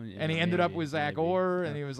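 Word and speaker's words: Zach Orr: It sounds like you're saying Zack Core.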